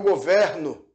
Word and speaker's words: governo: eu governo eu governo perceba a pronúncia do e embora a palavra governo não tenha acento esse L é pronunciado com tibre aberto como se fosse escrito desta maneira um acento embora não se tenha acento Ok governo E aí